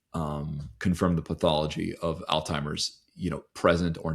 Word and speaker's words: Alzheimer's: Yeah, there's definitely no T. It's a Z. It's Alzheimer's. It's a you know, it's a it's not timers.